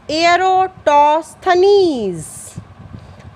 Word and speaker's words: Eratosthenes: Yes, the pronunciation is sieve of Eratosthenes.